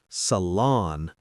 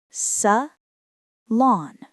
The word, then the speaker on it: salon: Not salon, more like salon. Say it slowly. Sa-lawn.